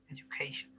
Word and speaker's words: education: এই D Yuta জ উচ্চারণ হয়, ঠিক আছে, এডুকেশন, ঠিক আছে। Education.